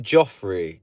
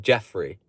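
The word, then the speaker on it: Geoffrey: Yeah, but so would you pronounce that like Joffrey? Because over here to us, that looks like Jeffrey. It would just be Jeffrey. That's how you pronounce it over in the UK, Jeffrey.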